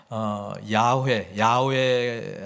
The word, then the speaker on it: 야훼: 우리는 여호와라고 하지만 야훼 하나님이 더 정확한 발음이 아닌가, 이렇게 생각을 하고 있습니다.